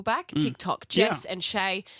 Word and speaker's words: Chae: Yeah, cuz my name's weird and it sounds weird when you say it, but it's spelled a different way.